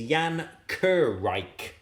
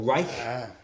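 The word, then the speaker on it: Jan Werich: At Oxford James has kindly said it is Jan Kurreich. Or Reich. I think is the correct pronunciation guide.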